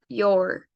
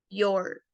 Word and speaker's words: your: u en el caso de la palabra your es o u your o incluso Se podría decir que es nada más una o y una r your pero la y la y se sigue pronunciando como una i i o your muy bien y cuando